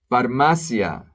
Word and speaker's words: farmacia: Farmacia, pharmacy, same thing, the stress is very important.